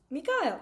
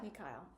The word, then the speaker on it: Mikhail: Well, because, like, I, for some reason, always want to say Mikhail, which is not correct. It's Mikhail.